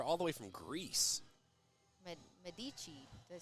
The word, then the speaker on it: Medici: she can come back and I guess we pronounced the name right. Oh, let's go. Eleni Medici. Let's go. Medici. Medici? Okay. Look at us. We're geniuses. Like the Italian fam, Eleni Medici.